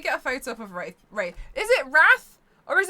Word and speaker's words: Wraith: Wraith was pronounced without the I, not like Wrath the Sin.